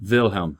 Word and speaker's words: Wilhelm: Wilhelm. So that W is like a V sound for Right.